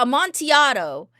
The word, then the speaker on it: Amontillado: Pronunciation. Yeah, Amontillado.